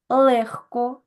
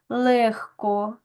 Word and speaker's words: легко: у нас м'який рибці але є у нас в українській мові п'ять слів які вимовляються глухо Отже це у нас легко вогко нігці кігці дзьогцю запам'ятайте що у цих п'ятьох словах і похідних від них відбувається заміна дзвінкового г на глухий х і ось ми в